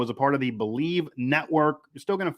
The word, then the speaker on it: Bleav: Twitter and that is b-l-e-a-v by the way but it is pronounced believe also everywhere they have